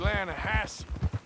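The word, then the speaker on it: Lannahechee: some beautiful steelhead trout you mean the Lana hash no no no the Lana hatch it runs right near here yeah but it's pronounced Lana Hass why is everything in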